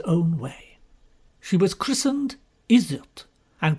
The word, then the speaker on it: Iseult: She was christened Iseult, and pronounced by her father, as most Englishmen do pronounce it, Usiet, which rather defeated the object.